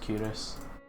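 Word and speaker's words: Culross: So it's like K Ross, but it's pronounced Curus.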